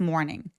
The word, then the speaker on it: morning: Morning닝 아니고 더 많다라는 more 있죠? more를 발음하고 닝으로 넘어가시면 돼요. morning. Morning 이거 왜 그러냐면 r이 있어서 모음이 조금 더 길게 표현이 되는 습관이 있어요.